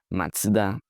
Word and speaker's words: Mazda: Next up, we have this Mazda. We call this Mazda. Like it's simple, master. But how do Japanese pronounce this? Well, it's totally different. They say Mata.